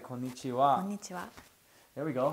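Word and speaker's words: こんにちは: Hello is konnichiwa. Ah, that's an easy one. Konnichiwa. No, you put too much emphasis on nichiwa though. It's konnichiwa.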